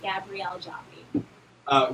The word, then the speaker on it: Gabrielle Joffie: ll e jo and I eat and it's pronounced Gabrielle Joffe real quick before we go we want to